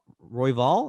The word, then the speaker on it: Royval: Royval, is that how you pronounce it?